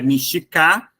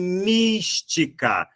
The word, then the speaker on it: Mística: está aí não é mstica não é mstica e sim Mística Essa é a sílaba mais forte essa dúvida que você